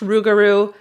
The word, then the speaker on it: rougarou: So, it's pronounced Rougarou and it is a legendary creature in Cajun and Creole culture.